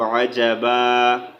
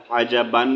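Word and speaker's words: عجبا: अच्छा, यहाँ पर हम वक़्फ़ की सूरत में एक ज़बर को साइलेंट करेंगे तो आजबा, आजबान नहीं पढ़ेंगे, ठीक है।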